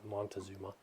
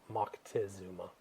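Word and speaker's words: Moctezuma: empire empire a guy by the name of Mocktazuma or Montazuma as they say here in the states but it's Mckesuma is the appropriate pronunciation.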